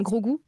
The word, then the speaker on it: Grogu: Attention, vous me dites si je prononce faux à nouveau, hein. Grogu.